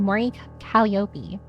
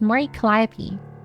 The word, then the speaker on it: Mori Calliope: How do you pronounce her full name? Mori Calliope. Right? No, it's Mori Calliope.